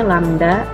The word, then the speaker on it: lambda: Dibacanya lambda, lambangnya seperti ini.